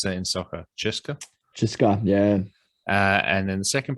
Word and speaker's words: CSKA: How do you pronounce that in soccer? Cheska, yeah.